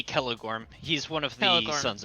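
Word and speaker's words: Celegorm: don't care i think my sister always pronounced that kelliborn but there's no bee or this this is yeah it would be kelligorn he's one of the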